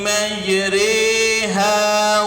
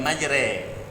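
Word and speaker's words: مجراها: Dimiringkan. Pengucapan fathah yang miring ke kasrah. Majri, bukan majre.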